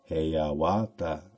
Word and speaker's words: Hiawatha: The Indian name Iawata, Hawata, Heihawa, Hayawata is commonly pronounced Heyawata. In the Indian form, it is Haya Hawata.